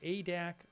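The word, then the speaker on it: Adak: And Nick Klein, who says it's pronounced ADAC from Alaska.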